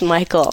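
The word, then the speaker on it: Michale: was spelled on my birth certificate Michelle but pronounced Michael okay and so I said you know when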